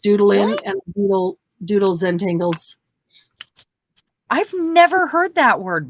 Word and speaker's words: Zentangle: doodling with a purpose like Zentangle like Zangle like Ze n t n g one word spelled like entangle right yes with a z okay correct that is